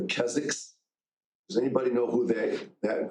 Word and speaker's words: Keswick: The W is silent. It's called the Keziks.